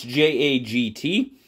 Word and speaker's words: Jagt: But this is the Jagt from, I know I'm probably not saying it absolutely correctly, but it's J-A-G-T.